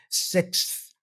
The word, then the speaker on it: sixth: you can see and this symbol right here yeah which looks like a zero almost this indicates it's a th sound The Voice L th the sound so we say six six